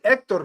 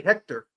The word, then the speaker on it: Hector: Hector you say Ector, you don't say Hector.